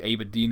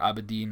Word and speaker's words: Aberdeen: Aberdeen is a place, or Aberdeen, I think depends on where you're from, how you pronounce it. I think it's Aberdeen is how the Scots pronounce it, and it's Scot country up there.